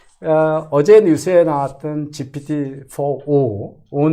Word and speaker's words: GPT-4o: 어제 뉴스에 나왔던 GPT-4o 는 네. 이제 옴니라는 말에 네, 여기서 O라고 읽군요. 네. 0이 아니고 옵니다.